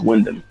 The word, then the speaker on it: Windham: called William Rotunda yeah you get the first name wrong not William it's Windham window sorry he renounced